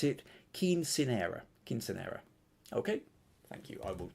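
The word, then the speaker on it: quinceañera: Oh, and how to pronounce it? Quinceanera.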